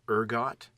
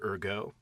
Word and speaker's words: ergot: fungus, which is called ergot, or ergot, if you pronounce it in the French. There's a T at the end, though.